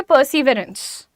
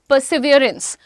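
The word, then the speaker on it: perseverance: अब इसको आप सिंपल देखोगे तो आप बोलोगे पर्सिवरेंस। पर्सिवरेंस। पर्सिवरेंस बोलते हैं ना। लेकिन इसका प्रोनाउंसिएशन इज़ पर सेवेंस पर्सिवियरेंस और जब इसको कहते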